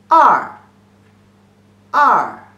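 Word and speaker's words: 二: long stroke so two strokes means number two pronunciation is r r and number three two short strokes and one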